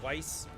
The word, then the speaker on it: Weiss: don't enjoy it right pronounced like Vice and lied so Weiss Weiss lied wi all right